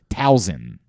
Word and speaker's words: Towson: Like Towson. Like, what is that? Where does that come from? It's not hard. This is not a hard thing to pronounce. Like, there's no Z in the word.